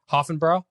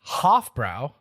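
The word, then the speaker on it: Hofbräu: Hoffenbrau. No such thing. Oh damn! What's the Blake? it would be Hofbrau, Hofbrau?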